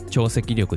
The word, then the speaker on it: 潮汐力: 以前の動画でも言いましたが、潮潮力と書いて超積力です。